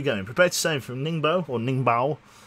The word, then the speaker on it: Ningbo: who actually knows che Ningbo is pronounced more like Ning boo but mash boo or into one syllable Bor Ningbo okay mash it into one syllable pretty much oh hey we have